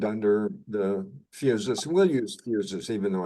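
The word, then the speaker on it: physis: We'll use fuses, even though it's spelled with a Y. That's a more proper pronunciation of the Greek word for nature, the nature that embraces the personality, right?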